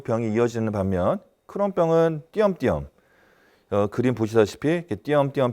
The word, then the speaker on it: 크론: 그 크론 씨라는 사람이 1930년도에 처음 이 병을 갖다 보고를 했기 때문에 그 이후로 크론병이라고 이름을 붙이고 있고, 우리나라 사람들은 이제 클론이라든가 또는 크롱으로 이렇게 또 잘못 발음하는 경우도 있긴 합니다만 사람 이름입니다.